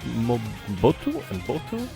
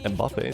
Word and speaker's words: Mbappé: And then on the other Team Blue we have Kylian and Mobutu. Sorry, my bad. Terrible pronunciation. Mbappé.